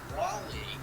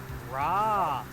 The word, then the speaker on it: Raleigh: It's Raleigh. Yeah, Raleigh. Dude, I can't pronounce it. Leave me alone. Okay, It's not The word- difficult, though. take the word rally and just make an AH sound. Raleigh.